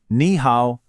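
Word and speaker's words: 你好: Ni hao.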